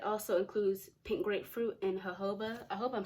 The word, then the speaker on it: jojoba: includes pink grapefruit and jojoba I hope I'm saying that right I know you don't pronounce the J it's a ho but I think oh